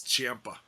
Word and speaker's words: Ciampa: It's Ciampa. Just like Tampa.